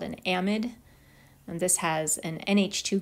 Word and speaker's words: amide: this is called an amide looks like amide but it's pronounced amid so these are the